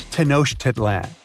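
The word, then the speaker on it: Tenochtitlan: It's Tanoshitlan. And Mayan cities are hard to pronounce too.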